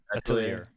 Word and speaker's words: Atelier: Atelier is how you pronounce it.